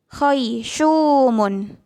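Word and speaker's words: خيشوم: Selanjutnya syu, dia huruf sya tapi berharokat dumah dan dibaca panjang. Berarti itu ada sya bertemu dengan huruf wawu sukun. Jadi dibacanya panjang. Syu. Kayak gitu. Contohnya khaysyumun. Khaysyumun. Nih, syunya panjang.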